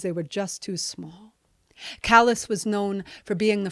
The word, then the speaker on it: Calais: But I was from Calais, Maine. Spelled like Calais, France, said like the rough patches on all the mill workers' hands.